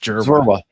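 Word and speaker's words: Dzierwa: Just don't even think of the DZ with that one, just Zwerwa.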